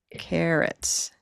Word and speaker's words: carrots: Carrots. A very tiny vowel, carrots.